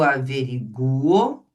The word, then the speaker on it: averiguo: É o U que é forte, ó. Eu averiguo e eu delincuo. Então, o forte é esse U, ó. Eu enxaguo, eu averiguo, eu delincuo.